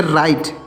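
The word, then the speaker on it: write: आईडी तो इसको पढ़ेंगे राइट क्या पढ़ते हैं राइट राइट मींस क्या होता है लिखना राइट मींस क्या होता है लिखना डब्लू आर आई टी यहां पर डब्लू जो है यह साइलेंट है राइट एक राइट होता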